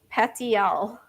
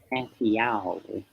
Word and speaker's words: petiole: Petiole. Petiole. Well, some of you are probably thinking, is that really how I pronounce it? Yes, it is. We didn't know.